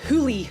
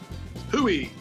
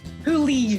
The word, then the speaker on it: hoolie: I'm trying to give you one that's like, okay, let's give you hoolie to start with. Hooey. Hoolie. Spell it.